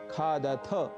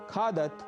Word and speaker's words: खादथ: कुछ भी नहीं होगा और पठथ, लिखथ, खादथ आदि के उच्चारण का भी हमें विशेष ध्यान रखना है। इन्हें पठथ, लिखत, खादत आदि हमें नहीं कहना है।